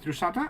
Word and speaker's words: Drusatta: Who will be talking to us today about Drusatta? Is that the correct way of actually pronouncing it?